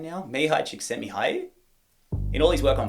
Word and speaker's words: Csikszentmihalyi: This is, I think I've learned how to pronounce his name now. Mihai Csikszentmihalyi.